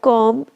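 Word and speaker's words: comb: option number C की which letter of the word कॉम इज not spoke हम क्या बोलते हैं कॉम हम क्या बोलते हैं कॉम कॉम बोलते हैं ना केवल तो किसकी स्पेलिंग नहीं बोलते हम हम स्पेलिंग नहीं बोलते हैं बी की तो उसका राइट आंसर होगा ऑप्शन नंबर बी तो जो होता है वह हमारा साइलेंट होता है यहां पे हमारे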